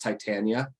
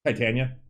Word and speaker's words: Titania: rangers show yeah it's actually uh it is pronounced titania titania yeah um but yeah i i saw that